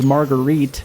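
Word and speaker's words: Marguerit: think like I said I've been saying her name wrong like the whole time I think it's margarit but uh you know what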